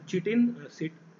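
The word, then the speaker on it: chitin: और यहाँ पर जो सेलुलोज है, सेलुलोज इज द सेलुलोज और चिटिन, ये दोनों क्या है आपके चिटिन, बेसिकली चिटिन हम इसको प्रोनाउंस करेंगे।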